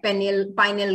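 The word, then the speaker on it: pineal: बिल्कुल, एपिथैलेमस जो है वो उसमें जो स्पेशल बात है वो ये है कि उसका पार्ट है पाइनियल ग्लैंड या पिनियल ग्लैंड, जो भी आप इसको प्रोनाउंस करो।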